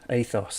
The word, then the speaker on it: Aethos: about designing the ethos the atheos how do you say it ethos ethos that's it how he went about